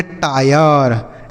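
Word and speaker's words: tire: तो यह हो गया वाई आर ई से र यह हो गया वायर टी आई आर ई इसे हम पढ़ेंगे टायर ठीक है आई एन एस पी आई आर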